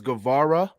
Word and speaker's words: Guevara: you know that you every every week on the show you mispronounce his name is guevara um but yeah it's